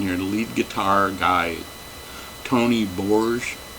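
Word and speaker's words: Tony Bourge: But the guitarist on here, the lead guitar guy, Tony Borge, I believe that's how he pronounced his name, he's just fantastic.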